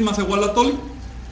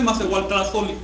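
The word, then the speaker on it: macehualtlahtolli: ¿Por qué no se dice macehualtlatoli? Porque yo no pronuncio la T que se supone que hay ahí.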